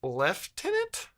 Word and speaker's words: lieutenant: that one's weird uh Lieutenant prounce leftenant no it's not the the Bri the British do that is that for real